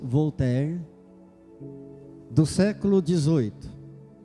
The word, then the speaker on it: Voltaire: um Pensador francês chamado Voltaire ou pronunciando em francês vou ter do século 18 e